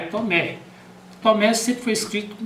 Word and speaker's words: Tomé: então foi suprimido H Tomé com H ou sem h é Tomé Tomé sempre foi escrito